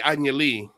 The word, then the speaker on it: Anya Lee: And so I say Anya Lee. That's just the very little Latino coming out of me. But Amy, am I wrong on that? I think that's probably the most accurate way to pronounce her name.